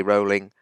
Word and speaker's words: Rowling: She calls herself Rowling. Everyone deserves to have their own name pronounced as they want it pronouncing. So just think of Joanne J.K. Rowling, rolling in money.